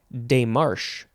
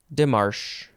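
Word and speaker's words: démarche: setting up the boundaries the next word is day Marsh or day Marsh or dimash d-e-m-a-r-c-h-e with or without an accent on the first e boo boo no I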